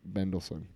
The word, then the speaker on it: Mendelsohn: Mendelsohn. He's back. Ben Mendelsohn.